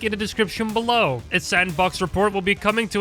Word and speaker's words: S&box: The game I was talking about is called SN Box, which I'm pretty sure is just pronounced as Sandbox, and a release date for it is unknown as of now.